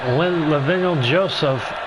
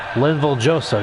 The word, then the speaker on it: Linval Joseph: That's Lavignol Joseph, I believe. Let me just make sure I pronounce that name correctly. It's Linval Joseph, yeah.